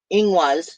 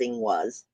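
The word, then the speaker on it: Ingwaz: whatnot I'm still getting inous inas sorry I'm pronouncing it incorrectly according to my notes inwas which is a rune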